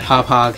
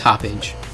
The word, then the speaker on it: Hauppauge: is the best that hop hog has to offer and also looked at that that's actually how you pronounce the name hop hog i always thought it was hoppage anyways so at this